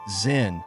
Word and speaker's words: Zen: Chan Buddhism to Japan, where it became known as Zen, the Japanese pronunciation of the Chinese term Chan.